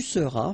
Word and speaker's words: seras: Je serai, tu seras, final S not pronounced, il sera, elle sera,